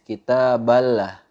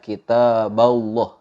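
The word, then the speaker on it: كتاب الله: belah tapi kitab Allahnya kita fokus ke-8 Allahnya itu dibaca tebal kitab Allah kitab Allah cara bacanya seperti itu nggak boleh dibaca atau salah ketika kita membaca lafadz Allahnya itu dibaca tipis kita bala kita bala itu Tapi harusnya dibaca kitab Allah banyak contoh-contoh yang sering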